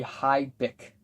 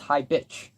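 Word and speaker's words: Hi Bich: If you pronounce the track title correctly, it would be Hi Bick, but it's pronounced Hi Bitch.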